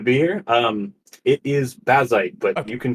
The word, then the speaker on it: Bazzite: Is it Bazite or Basite? I I always say Basite. I'm not actually sure on the correct pronunciation. Uh, hi everyone. Welcome to be here. Um, it is Basite, but you can call it any which way